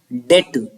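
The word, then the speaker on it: debt: है अपना कर्ज मैं डेट इसको डेट पढ़ते हैं डेट मत padhiyega डीबीटी से बी साइलेंट होता है मेरी बहन परीक्षा पास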